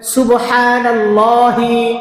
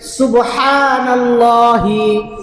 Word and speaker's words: সুবহানাল্লাহি: বলেন সুবহানাল্লাহি। হা উচ্চারণ করে বলবেন হা উচ্চারণের স্থান হল আমাদের গলার এখানে একটা উঁচু জায়গা আছে এই জায়গাটা এখান থেকে হা উচ্চারণ হয় বলেন সুবহানাল্লাহি সুবহানাল্লাহি সুবহানাল্লাহি